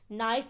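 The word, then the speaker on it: knife: नाइफ में आप देखें। यहां पर के लिखा तो हुआ है लेकिन इसकी आवाज सुनाई नहीं दे रही।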